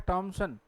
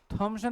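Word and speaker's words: Thomson: और क्या लिखा है, टॉमसन। थॉमसन नहीं होता, क्या होता है? तो चार एक शब्द है, ध्यान देना, जिनमें टीएच का उच्चारण क्या होता है भाई, ट बन के आता है, ठीक है।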